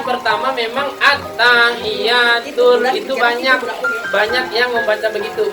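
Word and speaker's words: التحيات: Jadi kadang banyak yang baca itu at-tahiyyatun. Ini salah ya.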